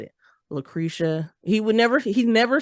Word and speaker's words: LaCresha: My name is LaCresha. It's spelled just the way that it sounds, LACRESHA. For whatever reason, though, my name has been butchered. And it'll be like LUTIH. And I'm just like, that is not how you say, not how you spell LaCresha.